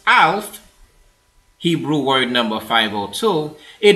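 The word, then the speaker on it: אָלַף: Pronounced Alf, Hebrew word number 502, it is the verb to learn, to be trained or trainable, docile, or causatively, to teach, to train.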